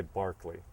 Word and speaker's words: Berkeley: more like it was developed by Barkley George Barkley for which the city of Berkeley was named but they mispronounce it and uh Barkley said